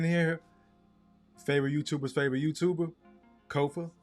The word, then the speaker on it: Kofa: Kofa. Ko F A. Not coffee. Not. Not Kofi or any variation thereof. Kofa rhymes with sofa.